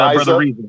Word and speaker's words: Rizza: But one question I did have for Brother RIZZA, really, am I pronouncing that correctly, brother? Brother RIZZA. Yes, brother RIZZA.